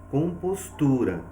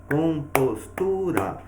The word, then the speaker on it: compostura: Então, nós temos um exemplo aqui, compostura. Então, o que nós vamos perceber? Ao pronunciar esta palavra, nós visualizamos que o tu recebe uma força maior. Então, o tu é a nossa sílaba tônica e as demais são as sílabas átonas.